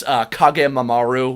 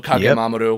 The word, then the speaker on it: Kage Mamoru: I didn't give you any pronunciation guide, so hence Kage Mamaru was said in that episode instead of Kage Mamoru, which the rest of us were saying like weebs with tapping the R, as we say.